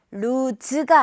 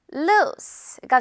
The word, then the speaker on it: loose: 루즈가 아니라 이거 지금 SE는 s로 발음돼서 루스가 돼요.